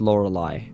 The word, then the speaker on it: Lorelei: And by the way, Tristan, Her name is pronounced Lorelei, like in That's the song what I was Linked.